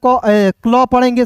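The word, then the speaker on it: clip: तो देखिए सी एल आई पी तो सी एल को आधा क्ल पढ़ेंगे सी एल को क्ल आई का ई और पी का प क्लिप सी एल आई पी को पढ़ेंगे दोस्तों क्लिप क्लिप मींस होता है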